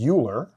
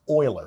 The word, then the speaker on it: Euler: the last name is Euler but actually it's pronounced Euler so his name is oil this is Euler's number